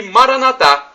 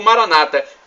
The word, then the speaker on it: Maranatá: E Maranatá, como dizemos nós católicos, ou Maranata, como dizem nossos irmãos separados, os evangélicos ou protestantes. Não importa a pronúncia, somos todos irmãos e cristãos e o significado é o mesmo.